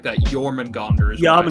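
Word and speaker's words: Jörmungandr: Well, to be fair, it's still scary because I mean, How about the fucking Jormungandr for a second?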